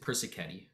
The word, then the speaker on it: Persichetti: Well, check out a composer named Vincent Persichetti. Persichetti is going to be spelled like Persichi. Etti. He's Italian.